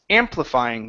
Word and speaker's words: amplifying: okay uh okay uh this word here is uh is pronounced amplifying the stress is at the very beginning of the wording amplifying okay good uh